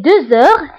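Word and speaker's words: deux heures: هنا نطقت لا لتر زد مع أنها ما كايناش. pourquoi؟ باسكو عندي h. باسكو عندي لا لتر x كتبعها h. دونك كندير لا ليزون وكنقرا 2 heures. 2 heures. d'accord. كنطق لا لتر زد مع أنها ما مكتوباش باسكو درنا لا ليزون.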